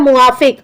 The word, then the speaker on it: मुआफ: तो इस तरीके से तो वो असली वर्ड होता है मुआफ आ जो होता है ना वो लोग साइलेंट कर देते हैं और मुंह में लगा देते हैं आ तो माफिक बोल देते हैं वैसे होता है